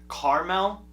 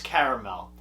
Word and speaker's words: caramel: And for all those people that call it caramel, no. You're saying it wrong, buddy. It's caramel. There's an A that comes after the R, just so you know.